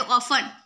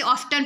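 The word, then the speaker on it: often: उसके बाद है ऑफन, ऑफन कुछ लोग इसे ऑफ्टन पढ़ते हैं पर ऑफ्टन नहीं, ऑफन हो जाएगा, जिसमें टी साइलेंट हो जाएगा।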